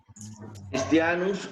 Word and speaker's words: Christianus: La palabra Christianus o Christianum se pronuncia como K. Hay palabras griegas, por ejemplo, como PH y TH.